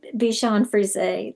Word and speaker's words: Bichon Frise: And I said, "Bichon Frise, that's how you say it.